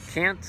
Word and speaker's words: Kant: of these guys names Immanuel Kant is the way I pronounce it the Brits say Kant and they have to